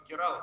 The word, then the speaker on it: Керала: Есть штат Керала такой, или Керала по-разному ударения ставят.